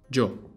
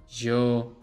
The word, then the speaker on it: yo: Yo. The Y sound will highly depend on the region. You'll get yo, yo, yo, and more. So, if you want to play it safe, pronounce it as yo.